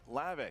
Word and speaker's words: Hlavac: his strengths more likely I think Christian Adam lavich whose strengths are the DCE you also Marvel